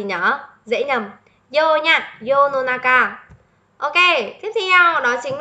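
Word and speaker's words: 世の中: là dễ rồi, chắc chắn nó sẽ không đọc là senonaka, nó quá là đơn giản rồi.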